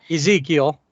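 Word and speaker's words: Ezequiel: Ezekiel.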